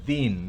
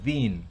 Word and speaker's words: thin: Thin, no es thin, no es thin, sino thin.